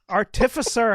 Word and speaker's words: artificer: Artificer has an extra F and an S in it. No, There's only one F. It's just got the emphasis on the wrong syllable.